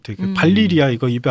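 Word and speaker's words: Valyria: 방송을 들은 후배가 와서 형 그런데 발리리아 아니에요? 라고 얘기를 하는 거예요. 아니 이 무식한 놈아 발리리아가 말이 되냐 발음도 이상하고 발라리아지 그리고 책을 이렇게 펼쳐 발리리아인 거예요.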